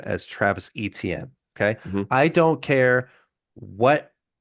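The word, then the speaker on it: Etienne: Um, we are going to continue we are going to continue to pronounce his name as Travis ETM.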